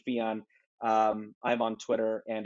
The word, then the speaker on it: Fijan: name at b-o-b-b-y-f-i-j-a-n my last name rhymes with neon theon neon so at fion um i'm on twitter